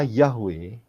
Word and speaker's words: Yahweh: Kalau saudara perhatikan, ya, kata Yahweh, ya, itu cara kita menyebutkan, mempronunciasikan, ya, menyebutkan. Tetapi penulisannya adalah Yod He Waw He.